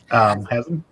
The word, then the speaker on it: Hazzum: Hazzum. That's how you pronounce it.